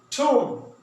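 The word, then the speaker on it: thumb: ठोम, ठोम यहां भी बी को साइलेंट करेंगे।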